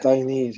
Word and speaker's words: Dainese: Dainese, how you pronounce it.